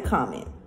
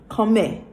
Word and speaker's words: comment: remember how I said you're not gonna pronounce every single letter this is common but they don't say coming they say in France comment comment and then you